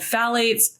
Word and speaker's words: phthalates: There's also something called phthalates. Phthalates, I always mess the pronunciation of that.